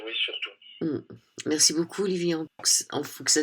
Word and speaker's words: Emphoux: la lumière et oui surtout merci beaucoup Olivi en fou que ça s'écrit et ça se prononce en fou voilà merci beaucoup Olivier bonne soirée oui bonne